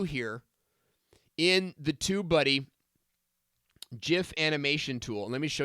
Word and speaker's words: GIF: time the letter I or typically a vowel follows the G then we give it the jaw and so it's not a it's not an anomaly of the English language GI words are pronounced with that just sound so boom lay that down in case there's any way that argument to rest so you guys can